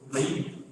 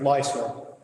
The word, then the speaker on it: Lyser: comment and this is leor that's that's fine I get a lot of different pronunciations uh my name is lyser and I'm here this